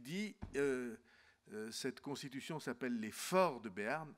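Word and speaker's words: Fors: Et il dit, cette Constitution s'appelle les Forts de Béarn, Forts ça s'écrit F-O-R-S, et c'est l'écho du latin forum, hein, vous savez, la place publique à Rome où on faisait la politique.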